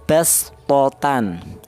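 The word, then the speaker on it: بسطة: Cara bacanya bastotan, jangan bastotan tapi bas ya, bastotan.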